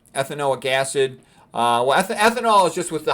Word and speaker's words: ethanoic acid: Okay, and you pronounce the whole thing with an ick at the end.